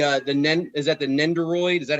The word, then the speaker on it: Nendoroid: i took the uh the is that the nendoroid is that how you say it yes sir